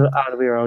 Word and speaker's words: Alderweireld: Alderweireld? Is that how you say his name? Alderweireld, yeah.